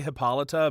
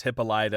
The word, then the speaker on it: Hippolyta: I prefer to say Hippolyta, but they do say several times it's Hippolyta. They do, yeah.